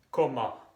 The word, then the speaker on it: comme: Comme, comment. Primero la pronunciación. Comme, y la E al final jamás se pronuncia comme.